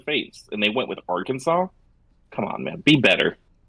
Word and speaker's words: Arkansas: spelled Arkansas but pronounced AR the Aransas but pronounced Arkansas it is that's one of the more pathetic